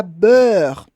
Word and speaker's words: beurre: Palavra beurre. Sei que muita gente tem dificuldade para pronunciar isso, tá? Beurre, beurre. Então vale a pena treinar som de heure, com esse R do final, d'accord?